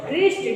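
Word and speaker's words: wrist: टी आर के पहले डब्लू आया है तो साइलेंट हो गया रेपर डब्लू आर A double P ई R wrapper and रिस्ट डब्लू आर आई एसटी रिस्ट and wrinkle W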